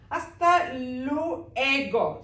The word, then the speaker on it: hasta luego: ഹസ്ത always started hasta. Do not pronounce H. H always silent, just like see hola. H ഇവിടെ silent ആണ്. നമ്മൾ ഓ തൊട്ടാണ് സ്റ്റാർട്ട് ചെയ്യുന്നത്. അതുപോലെ hasta luego.